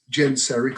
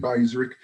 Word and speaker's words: Genseric: The ships of Chittim is a reference to a naval fleet that was commanded by a Vandal king whose name was Genseric. Some would pronounce it Geiseric.